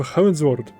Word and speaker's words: Heavensward: Типа Heavensward. Heavensward, по идее, означает, типа, небесные палаты, да? Но произносится оно еще и как направление, типа Heavenwards. То есть в направлении небес.